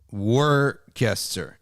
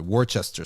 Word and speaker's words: Worcester: have an event in Birmingham okay all right War Caster is another War Chester sauce we call it War Chester sauce it